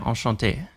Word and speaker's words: Enchanté: Because you have this accent on the last letter of the Enchanté, you have to pronounce that. That's important to remember.